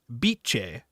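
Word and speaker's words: Bice: not beatric but beatric this nickname of the Italian beatric is thus pronounced beich so yeah so the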